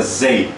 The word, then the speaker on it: zij: zij, O Z no holandês é zei. zij, Zei. zij. Só de eu falar, pronunciar a letra Z no holandês, eu já estou falando o que está escrito aqui. Zij, Aí, zei.